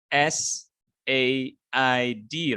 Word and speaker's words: said: in the past form it's going to be s a i d right uh it it will sound like it many of us would pronounce it like site because it spells as